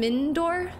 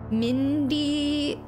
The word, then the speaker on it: Mindoir: dialogue choices okay okay mindor meor meor yall are giving me different pronunciations mindor mindor no but there's no I between the D and the O it's like mindor mindor I got to hear